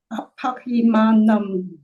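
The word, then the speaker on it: aparimāṇaṃ: By the way, if you cannot in pronunciation distinguish between a n and a n, don't worry too much. because even modern Hindi speakers will lose the distinction there.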